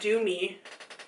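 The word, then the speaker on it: Dew Me: It's called Do Me, but it's spelled D-E-W.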